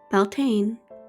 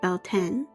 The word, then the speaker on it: Beltane: As the frost fades and the earth stirs awake, Beltane, pronounced Beltane or Beltane, arrives with smoke, sparks, and whispers from another world.